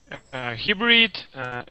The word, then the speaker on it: hybrid: So that Y is going to have a long I sound.